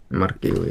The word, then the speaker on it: Marquinhos: Mark Giu? Is that how you say it? Marquinhos, yeah.